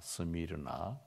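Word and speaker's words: Σμύρνα: 스미르나.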